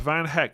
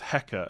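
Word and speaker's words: Van Hecke: go doggy in that case what is worth van heck is pro is pronounced hecka at the end it's Flemish Dutch language and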